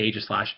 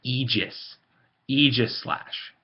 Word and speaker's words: Aegislash: um Eis slash now people will say AIS slash they are wrong you can pronounce it however the hell you are I don't care but I'm just telling you you're wrong it's egis egis slash now again I'm not